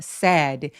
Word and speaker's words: said: said 근데 말했다 과거는 얘가 ai라고 스펠링 써 있어서 길게 말하는 거 아니야라고 생각하실 수 있지만 사실 턱을 거의 안 벌리고 said 이렇게 말해요. 짧게 소리 내 주셔야 돼요.